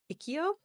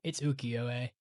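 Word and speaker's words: ukiyo: to get better but I think it's called ikio the very famous one called the dream of the fisherman's wife it's ukio UK uko UK I'm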